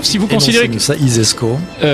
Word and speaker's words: ISESCO: vous considérez que ça isesco comme ça se prononce ainsi laisse donc si vous